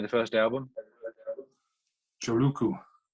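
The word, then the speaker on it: Joulukuu: Joluku. Thank you. Joluku. Which is December in Finnish.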